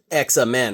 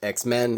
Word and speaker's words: X-Men: so they're not called it's not pronounced examen right so you can't say executioner because you can't say xamen so it's X-Men it's executioner okay so we're